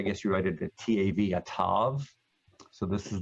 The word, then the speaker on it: Tav: If you wrote it in English, I guess you write it a T-A-V, a Tav.